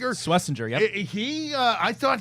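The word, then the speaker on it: Schwesinger: How do you pronounce it? Sweetinger. Swissinger.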